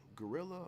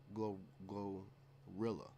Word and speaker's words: GloRilla: Sometimes we'll listen to her music in my home, but I will never ever put myself Is that woman name Gorilla or Glorilla? Glorilla.